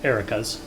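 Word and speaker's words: Arachas: encountered some iraq erikas i want to say arakas because it's a-r-a-c-h-a-s but apparent game they pronounce it erica's whatever um we had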